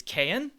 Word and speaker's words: Cayin: about the cayenne and i looked up the pronunciation it is cayenne ha 1a mark ii